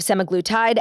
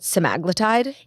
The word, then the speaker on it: semaglutide: Yeah, especially when you're women of semaglutide, as we both are. Girl. Wait, can I just tell you, I saw someone the other day pronounce it semaglutide.